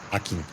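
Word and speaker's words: Hakim: Akin se escreve H-A-K-I-M, M de macaco, Akin.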